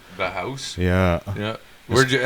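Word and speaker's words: Bauhaus: lusi is dead by a band called bah bah house oh yeah yeah I I know who Bella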